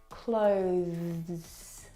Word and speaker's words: clothes: Now the th sound is very very soft. It is definitely still there.